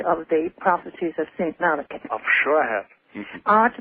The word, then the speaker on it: Malachi: With that lovely name, Malachi, yes, pronounced in the Gaelic, you obviously have heard of the prophecies of St. Malachi.